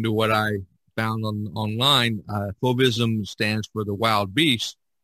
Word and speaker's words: fauvism: I think it's pronounced fauvism. Did I say that right, Diane? That's how most people pronounce it.